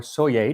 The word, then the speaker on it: Soyer: Also, this is actually the second recipe for spotted dick that Alexis Sawyer or Soyer, depending on how you want to pronounce it, put down in writing.